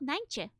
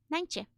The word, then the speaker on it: Nijntje: Now, please read this and guess how you pronounce it. In Dutch, she's called Nijntje. Nijntje.